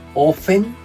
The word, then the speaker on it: often: Tenemos ofen, en el que no pronunciamos la t, decimos often.